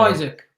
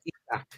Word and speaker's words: Isak: Isaac? It is Alexander Isak.